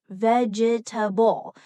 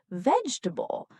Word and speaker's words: vegetable: Another example is vegetable. Some learners pronounce each part vegetable, but in natural English, we usually say vegetable.